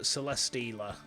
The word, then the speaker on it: Celesteela: The next one is Celesteela, but Celesteela, I suppose. You know, you have to mispronounce steel to kind of get it.